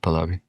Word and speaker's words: Pahlavi: Um, let's say you're talking to a supporter of the Pahlavi regime. Is that how you say it? Pahlavi?